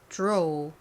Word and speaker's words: draw: 어로 잘 발음해 주셨나요 그리고 dr 이렇게 d랑 r이 같이 오면 이때 d가 디귿 발음이 아니라 디귿과 지읒의 사이 발음이 난다 약간 지읒 느낌이 들어간 발음이 난다라고 말씀드렸죠 그래서 득가 아니라 이렇게 원어민들은 발음을 한다라고 설명드렸습니다 자 영국식 발음해 볼게요